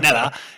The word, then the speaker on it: Kneller: With the surname Kneller, right? It's with a silent K, and so people, and I say it fast, like Nella.